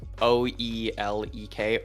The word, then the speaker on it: ulek: Yeah, so you actually pronounce the O and E together as U. So it's U. Olek. It's like a U.